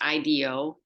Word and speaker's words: IDEO: of our life so frog design is one Ideo which is pronounced Ido is another one they have done a lot